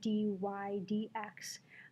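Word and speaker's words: dy/dx: developed this notation of the dy DX which is how you say it dy DX and it's supposed to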